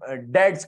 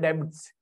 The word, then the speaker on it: debts: पता नहीं क्या, नहीं वो डेट्स को DEBTS है ना, तो वो B इज साइलेंट, तो बोलते हैं डेब्ट्स यानी B निकालते हैं, हालांकि B की आवाज निकालनी नहीं है।